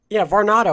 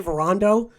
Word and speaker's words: Varnado: Curse my dyslexia because I keep wanting to say, Varnado. I keep wanting to say Varando for some reason. That's not even how you spell it. There's not even a second A.